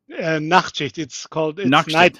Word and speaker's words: Nachtschicht: How do you pronounce that? Nachtschicht.